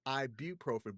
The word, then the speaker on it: ibuprofen: people don't really pronounce the U in it, but it is IBU and then profin. So it's properly pronounced ibuprofen, but nobody says it that way.